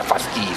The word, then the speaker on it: fasces: Yeah, Fasces. That's how you pronounce it.